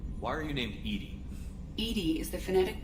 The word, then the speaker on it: EDI: is a jar why are you named Edie Edie is the the phonetic pronunciation of e di that is an acronym